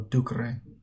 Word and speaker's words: ducere: Second conjugation has a long e in the infinitive, while third conjugation has a short e in the infinitive.